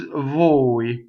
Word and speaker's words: voi: An Italian speaker would say bowie, like there's a bowie on the, as opposed to a girl, right? So this is voi.